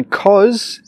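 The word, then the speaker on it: 'cause: Cause is the short way to say because. And then we join cause with it's. Cause it's. Cause it's. Now you try. Cause it's. Normally, when we have a word which starts with a vowel after because, we can say cause and then join cause and the next word together.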